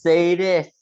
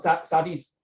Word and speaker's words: sadist: It's pronounced sadist. say this. Say this. I pronounce say this. I pronounce say this. Not sardis. Not sardine. Okay.